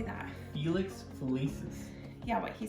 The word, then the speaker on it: Felix Felicis: our philippe phil how do you say that felix felicis yeah what he said and then um we